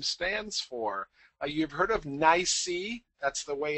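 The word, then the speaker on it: NYSE: what the acronym stands for you've heard of NY that's the way it's usually pronounced and it stands for the New York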